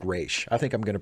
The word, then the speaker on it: Ra's: or in the Nolan trilogy in general, they pronounce it Raz instead of Raish. But I like Raish. I think I'm going to pronounce it Raish.